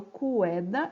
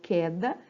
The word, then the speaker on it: queda: Eu não falo cueda, eu falo queda.